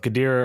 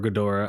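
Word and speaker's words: Ghidorah: thought it was Gad people pronounce it both gadir or gadora I used to say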